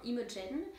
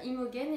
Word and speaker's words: Imogen: pas pourquoi j'ai prononcé alors que G on s'entend que ça fait je je pense que tout le monde le sait puis encore plus moi et que même en anglais ça se prononce de la même façon Imogen donc je sais pas pourquoi je me suis mise une fois à dire Imogen et puis après une